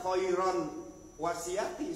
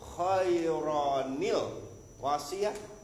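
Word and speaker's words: خَيْرًا الْوَصِيَّةُ: wasi apa wasiyati maka ini cara membacanya enggak bisa dibaca kohairon wasiati sementara alif lamnya ditinggalkan maka ini terjadilah di bawahnya nun kecil Pak jadi bacanya gampang ini satu dibuang Pak kohayuro ke bawah Wahyin jadiil wasiati ya.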